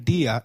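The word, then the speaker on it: día: Did you notice that dia has an I marked with an accent? In Spanish, if a word is marked with an accent, then that syllable receives the stress. So try saying dia again.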